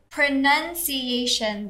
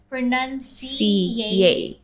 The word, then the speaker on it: pronunciation: word pronunciation yes so pronunciation it's actually five so yes five syllables and so what happened